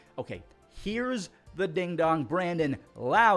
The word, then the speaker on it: Lowe: Brandon Lau. It's crazy how it's Lowe and Lau. They're both spelt the exact same way, but you pronounce it different.